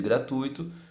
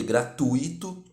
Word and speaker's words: gratuito: errada por quê pessoal a palavra culta de gratuito e gratuito com a tônica no ditongo Ui por